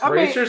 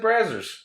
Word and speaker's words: Brazzers: Yeah, It's pronounced Brazers. I always said Brazzers.